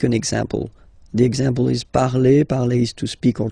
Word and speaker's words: parle: ending e, and then the way to pronounce it is je parle, parle. So remember, we put it, okay, but then we don't really pronounce it. Je parle, okay?